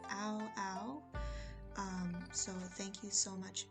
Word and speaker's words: Aoao: His name is pronounced Aoao.